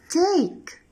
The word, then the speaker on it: take: So let's read it together, take, take, and here letter E is silent.